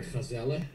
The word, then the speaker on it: Gazelle: Gazelle or Gazelle, if you pronounce it in Dutch.